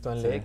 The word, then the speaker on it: Tuan Le: Sí, es que así se pronuncia bien porque no tiene la doble E como para Lee. Es Tuan Le, que ha estado con la marca, con Reebok, desde hace bastante tiempo.